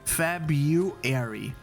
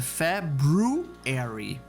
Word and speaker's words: February: te dar um exemplo a palavra february que muita gente pronuncia errado como FEB you here quando na verdade o certo é february então é febre Harry